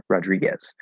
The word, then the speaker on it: Rodriguez: it's stressed Rodriguez um because like we say guess g-u-e guess or guest we're gonna say guess Rodriguez so the more food you